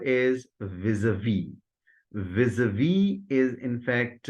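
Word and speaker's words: vis-à-vis: Vis-a-vis is in fact in the first syllable, the z sound is pronounced vis a v. In the second part, that is syllable a, occurs in heart, start, and calm. So vis a v is the transcription or the right pronunciation of the term used.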